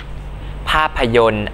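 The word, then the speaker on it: ภาพยนตร์: ว่า สัปดาห์ หรือ สัปดา ภาพยนต อ่าน ว่า ภาพยน สตางค์ อ่าน ว่า สตาง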